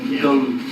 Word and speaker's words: Gumm: Yeah, Gumm sisters, kind of rhymes with glum and dumb and crumb.